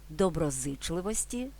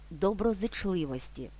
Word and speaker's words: доброзичливості: ні доброзичливості До речі слово має два наголоси доброзичливості і доброзичливості тож українці не втратили